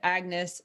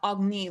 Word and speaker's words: Agnes: character is agnes crownsilver she requires that you pronounce it agnes not ogni like her pretentious royal family does she does not hold